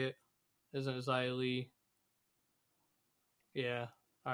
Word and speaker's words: Xia Li: And then Raquel and Shotzi defeated Sonya Deville and Xia Li. Isn't that how you say it? Isn't it Xia Li?